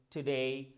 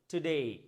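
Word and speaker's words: today: যেমন মেই সেই ডেই টুডে মানডে Sunday তার মানে কি বুঝতে পারলাম যে ওয়ার্ডের শেষে এ ওয়াই থাকলে এ নয় এই উচ্চারণ করব এই টুডে টুডে ইজ সানডে বুঝতে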